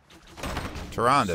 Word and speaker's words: Tyrande: Tyrande, that's how her name's pronounced.